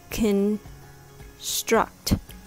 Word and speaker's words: construct: better construct is pronounced construct the word has the stress on the second syllable the first syllable has